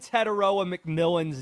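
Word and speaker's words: Tetairoa McMillan: You pronounced Xavier Legette and Teteroa McMillan's names correctly.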